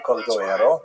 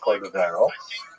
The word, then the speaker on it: Cordovero: One is Moshe Cordovero, everyone thinks it's Cordovero, and the other one, and hardly anyone knows how to say Piaseczna.